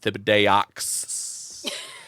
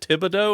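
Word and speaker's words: Thibodeaux: introduces himself he's like my name is Rad Thibidox and at one point in the show the main character Hank Hill looks at him and he goes, "Isn't that pronounced tibido?" And he's like, "Yeah, was pronounced wrong, but it's cool."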